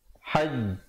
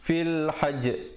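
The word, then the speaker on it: فِي الْحَجِّ: Cara bacaannya hajj. Tekan sekejap, kemudian tahan, baru lepaskan. Jangan terus lepas. Jangan fil hajj. Fil hajj. Itu ada pantulan, tetapi kita baca macam qalqalah kubra.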